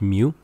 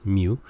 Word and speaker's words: mu: so this is Greek mu like the sound of a cat mu and mu means population